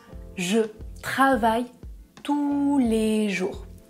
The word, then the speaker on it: tous: travaille tous les jours je ne prononce pas le "s" et dans la deuxième phrase je prononce merci à tous attention parfois on prononce le "s" à la fin de ce mot et parfois on ne le prononce pas il y a des